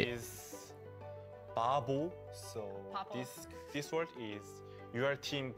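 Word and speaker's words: 바보: So Babo. This word is your team give to Babo? Kill to enemy. You say Babo. Stupid guy. Babo. Okay. Babo. Babo. And Mongchungi also Babo.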